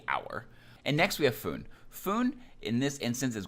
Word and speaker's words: 分: not always pronounced as food it is only pronounced as foon when it comes after the numbers 2 5